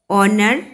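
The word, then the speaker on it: honour: Similarly, HOUR, our, honor, honest, begin with a consonant H, but we use an before them because they begin with a vowel sound A.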